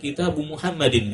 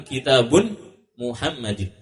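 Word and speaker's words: كتابُ محمدٍ: pahami ini susunannya keliru seharusnya susunan yang benar kitabu Muhammadin bukan kitabun Muhammadin berikutnya untuk kitabu Muhammadin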